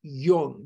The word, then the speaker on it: Jung: name is Carl Jung j-u-n-g is pronounced young not young not young